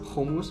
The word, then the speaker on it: komuz: uh i'll spell it right here um it's pronounced homus with a ha but um it's like a